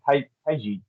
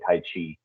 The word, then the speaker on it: taiji: it's really it's pronounced taiji taiji twin but most people say tai chi because they think that it means the energy the energy manipulation one